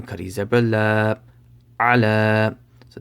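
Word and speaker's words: على: So ayn zabar a, lam kari zabar la, ala. So this ya right here, it does not have any harakat, so just ignore it.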